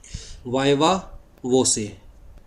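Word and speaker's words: viva voce: यहाँ पर वाइवा भी है, वाइवा वो से, कैसे प्रोनाउंस करेंगे इसे? वो से।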